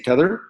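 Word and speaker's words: T'other: Instead of saying the other, they say tether. So some of my places, I think maybe even on Twitter, you'll find the apostrophe, T'' other Alistair. And so the way you pronounce it is Tether Alistair.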